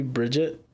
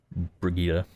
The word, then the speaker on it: Brigitte: Why do you call it Brigitte? Because that's how you pronounce her name. Isn't it supposed to be Bridget? Bridget has a D. Doesn't it have a D? Her name Brigitte. doesn't have a D? Nope. It's Shit. spelled Brigitte.